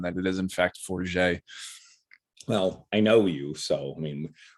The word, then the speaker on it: Forget: So as Sam reminded me off air, when you see his name written, it will look like forget, but it's pronounced Forget.